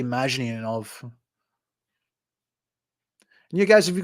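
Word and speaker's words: Mashyanov: Yeah, Mazhinov. I think that's how you pronounce his name, Gennady Mazhinov.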